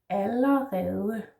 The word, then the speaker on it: allerede: Then we have allerede. Allerede. So two L's, we don't really say two, but we say L, flat A, L, and then the sound.